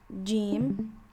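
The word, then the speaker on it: ج: This one is jim. You can pronounce it as ja or ja, whichever one is you feel more comfortable doing.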